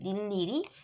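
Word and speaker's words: 늴리리: 자, 자음을 첫 소리로 가지고 있을 때는 무조건 1로 2로만 발음하시면 되는데 그 앞에 자음을 넣으시면 되죠. 그래서 닐리리, 무니, 띄엄띄엄 이렇게 맞았는 채점해 주시고 틀린 건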